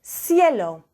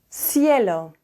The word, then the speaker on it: cielo: And then before an I and an E, it's a softer C, like a S. So, for example, cielo, cielo.